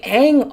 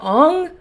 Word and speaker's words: Aang: Like, they kept pronouncing Aang Ong and Sokka was Soka, and it was ridiculous.